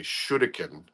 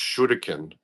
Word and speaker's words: shuriken: lot of people don't realize like uh I'll pronounce it the correct way. Shuriken or shuriken which are throwing stars as Americans call them but they're pronounced shudikin.